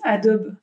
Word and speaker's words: Adobe: moi j'utilise la suite Adobe Adobe Adobe je sais pas moi je prononce à la française mais j'utilise voilà suite